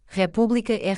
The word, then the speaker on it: república: Esdrúxulas acentuadas na antepenúltima sílaba, ex, república, republica.